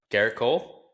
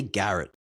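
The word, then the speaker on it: Gerrit Cole: Garrick Cole. A lot of people say Garrett.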